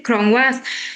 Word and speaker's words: Klong Wat: Good evening, everybody from Poland, but I'm originally from Thailand, and your pronunciation is correctly Klong Wat.